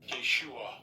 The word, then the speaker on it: Yeshua: That's Yeshua. That they pronounce it in the modern Hebrew, but it's Yahshua in the ancient Paleo.